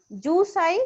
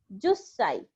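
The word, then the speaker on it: 十歳: So jusai, it should be jusai, but it is an exception and pronounced as jussai.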